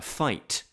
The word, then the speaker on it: fight: Let's take, for example, a word like fight. We've got this G and this H, which is wasting our ink, apparently. We don't pronounce either of those letters, but I think you'll